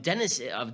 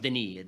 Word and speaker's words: Denis: How would they pay tribute to, I'm going to call him Dennis because I'm American, but I guess it's pronounced Denis Diderot.